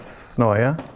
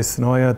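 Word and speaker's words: Senoia: me a tour is now the mayor of Sonoya. And if you go down there, you can tell who's local, who's not, by the way they pronounce Sonoya. I'm not from there, so I say Sonoya.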